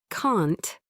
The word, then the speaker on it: can't: Can't sounds stronger. Can't. The T is clear.